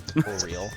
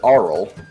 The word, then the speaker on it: Auril: It used to be literally announced oral, but because of this module, they had to rename it to O-Real. Auril, there you go. Auril? Auril. See, the way I read it is Oral.